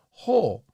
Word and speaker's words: ほう: However, I also know the kanji can be read as kata. It seems like I hear kata in conversations more than I do ho.